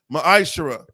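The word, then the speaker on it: מעשר: through 10 means tempt in the Hebrew it's pronounced maishra ten percent of every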